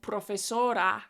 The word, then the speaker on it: profesora: of learning Spanish, is I always forget to say like "profesora" with a strong "a" sound or "Barcelona" with strong vowel sounds, and I say like